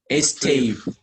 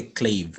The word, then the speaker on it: stave: Stave. It's stave, not a clave. It's stave. S-T-A-V-E.